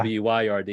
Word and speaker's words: wyrd: I know what you mean by yeah, WYRD, yeah, like weird.